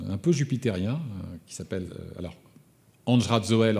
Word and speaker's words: Andry Rajoelina: Andj Radzoel en malgache, vous le verrez écrit et vous l'entendrez prononcer Andry Rajoelina en français.